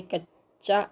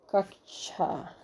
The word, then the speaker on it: कक्षा: Option A कच्चा, option B कच्छा, option B कच्छा, ऑप्शन सी कक्षा। सही ऑप्शन है ऑप्शन सी कक्षा। कक्षा ऐसे लिखा जाए कक्षा।